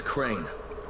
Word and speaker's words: Crane: no my name is crane crane rhymes with train and pray and say and clean and rain